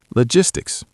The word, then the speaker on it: logistics: Logistics. Logistics. It sounds tricky, but it's just logic with a sticks at the end. Logistics.